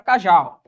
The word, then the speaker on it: cajá: Um exemplo, a palavra cajá. Cajá. Qual que é a sílaba tônica? É o já. A sílaba tônica é a última.